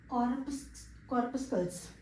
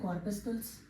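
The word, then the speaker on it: corpuscles: Corp, CORP, Corp, अस calls, याद हुआ?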